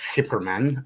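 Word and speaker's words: Geyperman: guy per man accessories that guy per man for those of you who don't know is actually pronounced hyperman um is um is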